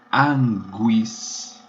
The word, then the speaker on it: anguis: Cobra em latim é anguis. G-U, pronunciadas ambas as letras.